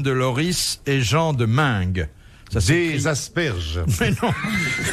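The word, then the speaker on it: Meung: Qu'ont fait ensemble Guillaume de Loris et Jean de Mingue?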